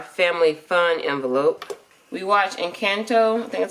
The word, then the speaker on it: Encanto: out of our family fun envelope we watched encanto that's how you say it that was pretty